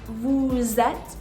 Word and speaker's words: vous êtes: Next we have nous sommes and vous êtes. Here I do want to point out that the S in vous, which is normally silent, is going to be pronounced as a Z.